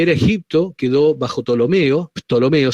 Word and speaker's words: Ptolomeo: Tolomeo se escribe con una P al principio.